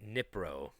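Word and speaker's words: Dnipro: It's a silent D in the beginning.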